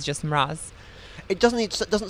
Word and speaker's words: Mroz: Mroz? Yeah, it's Mroz. Mm-hmm. Mroz. And it's Polish. That's right. So the O actually is supposed to be read as a U, but since there is